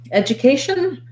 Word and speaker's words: education: little bit more help education has the a syllable of stress so in these ation words we typically stress that second to last syllable this d u is more of a j a j sound so you could think about it like this word edge edge education edge um